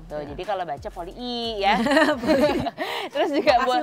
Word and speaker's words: Polii: Jadi kan namanya Poli, I-nya ada dua kan? Iya. Nah itu cara bacanya gimana sih yang bener? Poli I ya? Iya, Poli I. Gitu. Oh, kayak orang tuh bawaannya ya poli aja, enggak I-nya enggak dua kali.